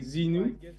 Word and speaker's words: Zenou: guest including mine but I guess you can say zenu zenu go well Zeno